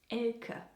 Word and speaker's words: Elke: Anyway, the name is actually pronounced Elke, more like Elke.